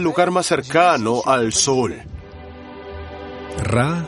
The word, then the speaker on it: Ra: Ra, también pronunciado como Re, es el dios sol.